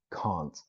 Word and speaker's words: can't: so it's typically pronounced can't I can't wait for you I can't wait wait for you now what happens is that this t almost disappears I can't wait for